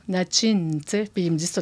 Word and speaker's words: Natshin: quand on s'est mariés, j'ai demandé à ce qu'on prononce mon nom en Innu, Natchin, puis ils me disent tout le temps, j'ai dit, parce que mon nom en français, c'est Nadine, OK?